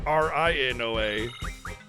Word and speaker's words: Rinoa: PE blip BL yeah if quinoa is spelled q i n o a then rinoa would be spelled r i n o a so rinoa's name is pronounced rinoa that [ __